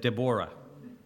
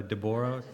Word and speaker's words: Deborah: I do not Ben said Deborah this morning so that threw me a little bit I thought am I meant to know that because that's the Hebrew the Hebrew way of saying it right so deboro that's just I was like maybe he knows something I don't but however you want to say it uh talking about